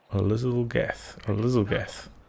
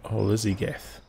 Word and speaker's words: oziligath: I've read this name so many times and I've been pronouncing it wrong the whole time, I'm pretty sure. Oziligath. Been saying it oziligath.